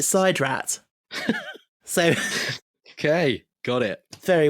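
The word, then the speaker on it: SIDRAT: It looks like Sid Rat, but they pronounced it side rat.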